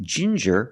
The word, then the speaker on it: ginger: you have different pronunciations with ginger we use the J sound like juice and jump J and the regular N Ginger Ginger people like to drink tea